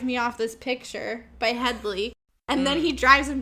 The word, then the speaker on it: Hedley: Hedley.